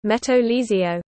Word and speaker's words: Metro Ligero: The Metro Ligero, Spanish pronunciation, Meto Ligio, light metro, is a light rail system in Madrid, Spain.